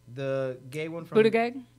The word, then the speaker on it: Buttigieg: Buttigieg? Yeah, that's how you pronounce it.